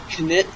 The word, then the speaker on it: Knytt: as you can see, this is Knytt Underground. Yes, you do pronounce the K.